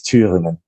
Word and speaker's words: Thüringen: Yeah, so in German it's Thüringen, Thuringia.